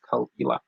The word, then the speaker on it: Caol Ila: But today I'm going to be sampling the Caol Ila, which is how it's pronounced, Caol Ila.